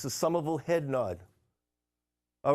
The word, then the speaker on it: Somerville: be talking like a Somerville person in no time, because Somerville leads the way. And just remember, in closing, the R in Somerville is silent.